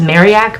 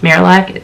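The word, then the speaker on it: Marillac Hall: I moved into Marilac Hall. It's actually pronounced Mariac, but everyone says Marilac.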